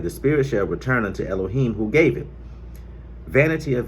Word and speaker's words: Elohim: In your English versions, it's going to say God, but I have to use the correct pronunciation of Elohim, because our people did not speak English nor Germanic languages or anything of that nature.